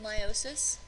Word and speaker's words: meiosis: and meiosis before you may have heard it pronounced meiosis instead of meiosis you're welcome to do that if it helps